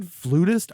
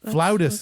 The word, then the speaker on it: flutist: you for a second is it flutist I've been saying it wrong all my life you can see either flautist is what I always thought it was you can say either okay I actually have